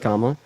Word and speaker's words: Kamala: Kamala, her name's pronounced Kamala.